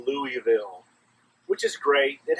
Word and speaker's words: Louisville: which is great it has an S in there but they don't use the S it's like a useless part well in Georgia we don't waste anything and so we pronounced this Louisville and uh great place